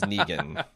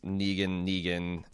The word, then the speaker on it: Negan: They're pronouncing Negan as Negan. Okay. I mean, to be fair, he did create the character. He did name the character. Sure, but we also speak in English language where, we have words that have the knee sound, like Knee or Nee. Usually Neg is pronounced neg.